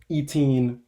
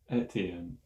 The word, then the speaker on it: Etienne: It is your boy G, alongside with me Hunter Eteen Bach, What? aka, is that how you say it? No. How do you say it? Etienne. Etienne.